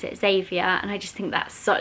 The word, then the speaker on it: Xavier: Harry's actually got a friend with this name at school, but everybody calls him Xavi, but I think you pronounce it Xavier, and I just think that's such a cool name.